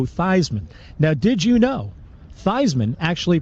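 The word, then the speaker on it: Theismann: now did you know Theisman actually pronounced his name theseman until Notre Dame publicity man Roger valdassari suggested that they changed the pronunciation to rhyme with Heisman true story wow pretty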